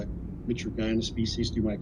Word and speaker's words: mitragynine: There's, for me in the medical field, G and Y together, the G is hard, so I'm going to call it mitragynine species.